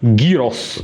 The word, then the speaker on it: gyros: Here in Bulgaria we say gyros with this tough g, gyros.